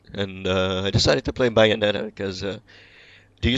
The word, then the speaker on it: Bayonetta: Bayonetta. Okay. I assume some people pronounce it Bayonetta, but no, they say Bayonetta.